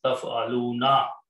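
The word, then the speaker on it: تفعلون: You all do something, but by adding a noon, it is pronounced as taf'aluna.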